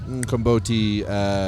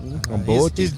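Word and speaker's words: umqombothi: Yeah, and then when Garrett went to open it, we had a Komboti volcano. Accident. Can I just say, you're pronouncing that word beautifully. Komboti.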